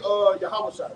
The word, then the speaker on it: Yahushua: Look at Yahushua. That's how you pronounce Joshua.